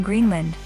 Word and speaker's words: Greenland: Located in Greenland, about 930 miles south of the North Pole, Thule Air Base, pronounced Thule, is the northernmost military base of the United States.